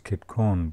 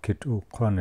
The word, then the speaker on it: Kitukun: me the name Kitukun, which people pronounce as Kitkun, but Kitukun is the butt of the spear.